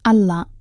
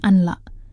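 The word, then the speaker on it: أن لا: Menurut ilmu tajwid, ini adalah hukum bacaan idgham bila gunnah. Artinya, suara huruf nun dilebur atau dimasukkan sepenuhnya ke huruf lam berikutnya, tanpa ada dengung. Jadi, dibacanya Allah, bukan anla.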